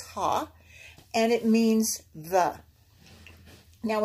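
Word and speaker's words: ה: this is a prefix it says ha you pronounce this ha and it means the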